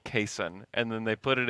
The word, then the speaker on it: Cason: me Cason he said my mom named me Cason and so we're like okay so your name is Cason great for two weeks we call them caisson on everything every time that I say his name that's how I say it and then we get the pronunciation guide from the Thunder which Cason had input on and said please call me Cason and then they put